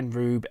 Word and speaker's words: R/B: um episode 19, Nebula House Invasion, and Ultra Rube episode 20. That's how you pronounce it.